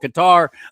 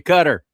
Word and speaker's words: Qatar: They decided they wanted to be called Qatar. I don't care. I'm still calling you cutter.